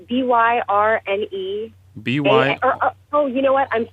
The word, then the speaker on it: Byrne: And your last your last name is BYRNE, right? That's correct. It's pronounced Byrne.